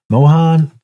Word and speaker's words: Mohan: starts Stars Sydney Sweeney is directed by Michael Mohan Mohan that's how you say his name you know